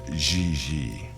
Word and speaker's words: JJ: mean jj gg jj on francais you pronounce g like j and j like g she may very well be jj in america but in france she is gigi how well does she